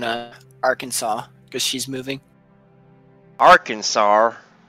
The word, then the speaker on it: Arkansas: Arkansas cuz she's moving Arkansas yeah that's how you say it Aransas no AR Arkansas Aransas is that anywhere